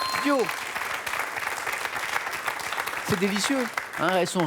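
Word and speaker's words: diots: Les Dio. Dio. C'est délicieux. Hein, elles sont rissolées dans du saindoux, mijotées avec des oignons et du vin, c'est très très bon. D-I-O-T-S, mais on prononce bien Dio.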